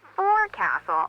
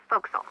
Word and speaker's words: forecastle: ship, but it's pronounced forecastle. Why's that? Try pronouncing it like an English sailor with no formal education.